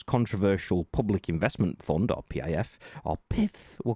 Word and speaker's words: PIF: The PIF, you have to pronounce it like that.